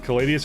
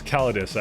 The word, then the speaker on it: Calidus: So, is it pronounced Caladius or, it's Calidus, actually. I just call it Caladius. It's, if you actually look at like it's Calidus, so I just call it Caladius. I just like calling it that, sorry. Pronunciation is not necessarily something I'm known for. It is technically Calidus, so.